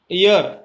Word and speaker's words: year: ईयर, ईयर का यहाँ पर हेयर नहीं बोलेंगे, हेयर बोलेंगे तो एन आएगा।